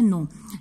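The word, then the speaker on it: know: your हमारा ठीक है यह के एन ओ डब्ल्यू 9 और यह एंड ओं इसमें के जो है वह साइलेंट होगा लेकिन इसका मतलब होता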